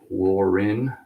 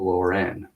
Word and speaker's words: Lauren: Ecom and retail business it's Lauren not lower end if that makes sense